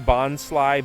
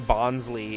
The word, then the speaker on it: Bonsly: Pokemon pronunciations, but um, everybody pronouncing Bonsly Bonsley is one of those little ones that gets to me because it's supposed to be bon like bonsai, like a bonsai tree, you know, it's got